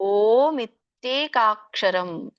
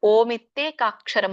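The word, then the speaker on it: ಓಮಿತ್ಯೇಕಾಕ್ಷರಂ: ಯಪ್ರಯಾತಿತ್ಯಜಂದೇಹಂ ಸಯಾತಿ ಸಯಾತಿ ಪರಮಂಗತಂ ಇದರೊಂದು ಉಚ್ಚಾರಣೆ ಓ ದೊಡ್ಡ ಇದೆ ಓಮಿತೇಕಾಕ್ಷರಂ ಸಅಂದ್ರೆ ಇದನ್ನ ಬಿಡಿಸಿದಾಗ ಒಟ್ಟಾರೆ ಮೂರು ಪದಗಳು ಇಲ್ಲಿ ಆಗುತ್ತೆ ಒಂದು ಓಂ ಎರಡನೆದು ಇತಿ ಮೂರನೆದು ಏಕಾಕ್ಷರಂ ಸೋ ಎಲ್ಲ ಕೂಡಿಸಲಿ ಓಂ ಇತ್ತೇಕಾಕ್ಷರಂ ಅಂತ ಹೇಳ್ತಾರೆ ಸೋ ನಿಮಗೆ ಅದು ಹೇಳಲಿಕ್ಕೆ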